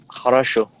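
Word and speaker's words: хорошо: And do you know this word harasho? Oh, it means it's it's pretty useful. It means okay, it's fine. It's well, there's no problem. Something like that. Okay. You pronounce it Ashu. Uh, Harashu.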